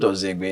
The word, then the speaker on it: Ozinegbe: Yeah, I'm Ozinegbe everywhere. Like I said, the N is silent, but it's OZINEGBE.